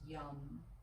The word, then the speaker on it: Yam: Sat, S-A-T, Yam, Y-A-M, but pronounced Yum, as in yummy.